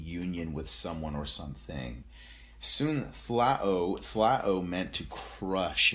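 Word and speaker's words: σύν: because this word it's soon flat o and it means soon it's spelled s-u-n but it's pronounced soon soon was this word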